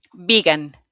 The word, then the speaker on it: vegan: So it's an E here. A long E. Vegan. One more time. Magdalena. Vegan.